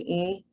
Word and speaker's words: Ng: You can call me Yeah. Ing. Lots of people call me Ing. The Okay. correct way to say is Ng. Yeah, or just Mm, spell it out, NG, just two letters.